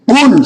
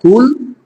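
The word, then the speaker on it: قُلْ: থেকে কুল আলু থেকে কেউ যদি কুল শক্ত করে বলে তাহলে হল বলা বলুন আর যদি নরম করে বলে কুল তাহলে এর অর্থ হয়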